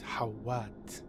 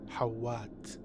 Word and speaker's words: Hawat: Hawat is another Arabic name. The way it should be pronounced is Hawat. Hawat. Hawat. Making it Thufir Hawat.